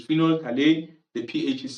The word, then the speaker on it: phenol: If you are using phenol remember the pH is silent there. So it's phenol the pH is silent.